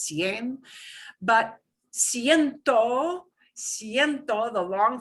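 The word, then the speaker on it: cien: it's that shorty form of 100 cncin but pronounced sien but siento siento the long form of 100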